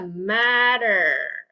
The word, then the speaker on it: matter: Right here, matter. Okay, guys. Okay. So, try to pay attention. That way you can catch some of the words that you need to pronounce that as a D.